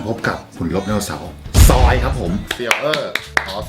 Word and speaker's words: Zoids: ไม่ คุ้น ชื่อ นะ ซอย นี้ ก็ คือ สะกด มา จาก z o ids นี่ ตาม ชื่อ นี้ เลย ญี่ปุ่น เขา ไม่ เรียก ซอย เ เรียก อะไร ซด ซด ซด อ่า ใช่